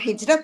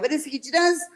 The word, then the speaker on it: hijra: It it it it is spelled with an R but pronounced with a D because the because the